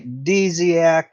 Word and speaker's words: Dziak: No, Ray, the D is pronounced, and if I actually pronounced it the way it's supposed to be, nobody would know it. If you were to say Dziak, that would be great.